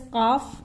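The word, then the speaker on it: ق: Then Qaf till here. Qaf. Lam. Now in between I have left Kaf out. This is pronounced as Qaf.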